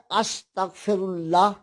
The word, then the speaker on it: استغفر اللہ: استغفار۔ باب استفعال ہوتا ہے، استفعال نہیں ہوتا۔ اور اس کا تلفظ ہے استغفر اللہ۔ استغفر اللہ خود فاعل